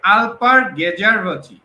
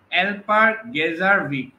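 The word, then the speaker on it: Alper Gezeravcı: আচ্ছা, এই প্রশ্নের সঠিক উত্তরটি হচ্ছে আলপার গেজারভচি। হ্যাঁ, যদিও তার নামের বানানটা হয়তো, স্পেলিংটা হয়তো একটু মানে উচ্চারণটা একটু ঝামেলা, অ্যালপার গেজারভিক এরকম করে উচ্চারণ হয়।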